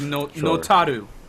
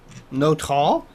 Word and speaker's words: Notall: Okay, if we were to say it like an English speaker would say it, it's not all, but according to Wikipedia and their website, it's in katakana as notaru.